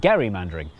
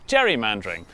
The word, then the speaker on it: gerrymander: for political gain became known as Gary Mander and then everyone started pronouncing it wrong which is how it became known as Jerry mandering which was good news